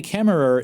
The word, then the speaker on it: Kemmerer: Apparently, Kemmerer is pronounced Kemmer. The ER is silent on the end.